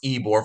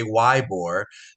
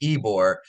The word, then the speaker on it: Ybor: history wise Tampa and Ybor City uh it's pronounced Ebor for those that come visit I know I got a lot of people that say why boar but it's pronounced ibor is a is an amazing maybe the best